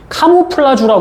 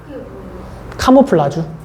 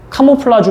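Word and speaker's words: camouflage: 들어본 적 있지 않니 카모플라주 우리나라 말로 많이 하는데 카모플라주 그니까 우리나라 식 발음이고 라지가 실질적인 발음인데 위장이 뜻입니다 위장 이 위장이게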